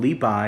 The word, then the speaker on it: Bai: So today we're going to be going over some of the poetry of Bai and Du Fu, and they are pronounced that way, but they've been translated or